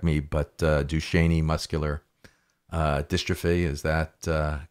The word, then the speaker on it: Duchenne: please correct me, but Duchenne muscular dystrophy, is that correct? It's actually Duchenne muscular dystrophy.